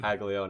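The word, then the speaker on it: Caglianone: Otani so oh Jack kagon that guy's looking like an absolute tagon that's how you say his name kagon I just looking at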